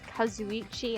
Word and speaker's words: Kazuichi: don't know why some got also I it's kazuichi I'm not going to remember that me too